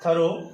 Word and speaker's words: through: six number का क्या टी एच आर ओ यू जी एच इसका जो प्रोनंसिएशन होता है वो होता है थ्रू ये एक तरह का